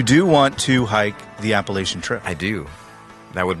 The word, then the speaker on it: Appalachian: How do you How do you say How do you say that word, by the way? Is it Appalachian? Is that how we were talking about Appalachian? Is that how you say it? Is there Is there I think that is There is a debate. Oh, I didn't know. Um I think People in Pennsylvania say it differently.